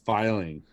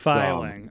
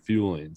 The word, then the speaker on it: Feuling: you say it yeah my last name is pronounced filing that's filing okay it's a really common thing it's a hard one to pronounce and there's a famous motorcycle parks company that pronounces it fueling so that's where i